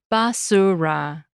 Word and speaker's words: basura: We pronounce each vowel sound in that word clearly, basura. None of them are swallowed.